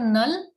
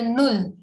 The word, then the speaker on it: null: just start with 0 0 is called null not null but null because u is who so we say null so 0 is null